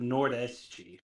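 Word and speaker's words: Nordeste: but we pronounce it nor the SG yeah the te at the end of a word in Portuguese is pronounced like chi chi okay good good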